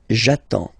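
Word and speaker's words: j'attends: So the first form will be jaton. Okay. You've got d and s. Well, basically you don't pronounce them.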